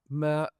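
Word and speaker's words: MØ: Let's move on to Mer, who's announced her. That's Mo. Just so you get the pronunciation of that, so you know who we're talking about.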